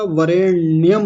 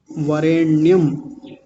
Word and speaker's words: वरेण्यम: वरेण्यम होता है। ये पहले मैं कई बार बता चुका हूं। ये न नहीं होता। होता है ये ण होता है ये वाला ण वरेण्यमण्यम वरेण्यम इससे अगला शब्द है